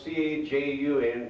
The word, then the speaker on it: Cajun: The word Cajun is spelled C-A-J-U-N, pronounced Cajun in Mexico.